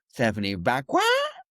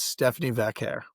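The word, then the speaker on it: Stephanie Vaquer: favor of saying the name that Nikki Bella mispronounced? Ah, Stephanie Van. Thank you. Yeah. No, the breakout for me is Stephanie Vair.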